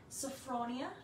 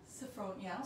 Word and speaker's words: Sophronia: so we got uh sophronia sofronia so kind of like sophia so probably getting from um